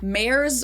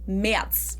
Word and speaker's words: Merz: Again, the Z is pronounced like a TS, so it's not Merz or Merz, but Merz.